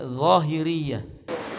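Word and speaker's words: الظاهرية: Kalau huruf Z dan H cara bacanya dha. Huruf dha itu ya, Zahiriyah.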